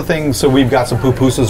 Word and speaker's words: pupusa: So we've got some pupusas right here. Pupusa. The accents on the second syllable.